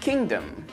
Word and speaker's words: kingdom: Now, we do pronounce the G in kingdom, but in rapid speech it often gets dropped.